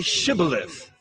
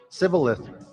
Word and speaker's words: Shibboleth: they said to him, Then say Shibboleth. and he said, Sibboleth. for he could not pronounce it right.